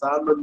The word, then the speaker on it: salmon: அதே மாதிரி SALMON அப்படின்னு ஒரு மீன் இருக்கு, அது உச்சரிக்கிறது வந்து எல்லை வந்து சைலண்ட் ஆகிருந்தா சால்மன் அப்படிங்கிறாங்க. அது கடல்ல பறந்து நன்னீரான ஆற்றுல போய் முட்டையிடக்கூடிய தன்மை இருக்கக்கூடிய ஒரு மீன்.